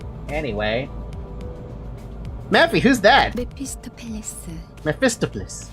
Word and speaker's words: Mephistopheles: Mephistopheles.